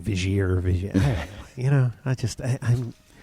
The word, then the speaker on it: Vigier: Yeah, Vigier. Vigier. Vigier. And I always get it wrong. I'm like Vigier or Vigier.